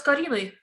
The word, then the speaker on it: Karine: Я бы поработала с Кариной. I would like to work with Karine, with K-A-R-I-N-E, Karine? Да, если я правильно произношу, да. Yes, if I'm correctly pronouncing this. Wave your hand at us, Karine, and let's see if we've got you the